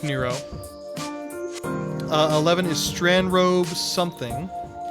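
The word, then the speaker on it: Nrvnqsr: I know it's spelled near nervin kisser is pronounced Nero 11 is strand rove something 13 says Tatari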